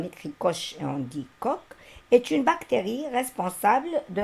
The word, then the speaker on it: Koch: Alors, ça s'écrit Koch, mais c'est Koch.